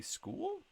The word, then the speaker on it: School: Fogel, Levi, Allison, Brady School. Says it's pronounced like school, so I'm just gonna say school.